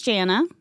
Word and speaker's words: Jannah: Well, my name is Jana. It's like Hannah with a J, so it's spelt a little funky.